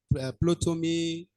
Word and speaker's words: Ptolemy: We talk about Ptolemy, Copernicus. See, my brother, that P, you don't pronounce it. Ptolemy is like psychology.